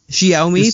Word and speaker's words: Xiaomi: Xiaomi, thank you. Okay. Just reading that more or less phonetically there.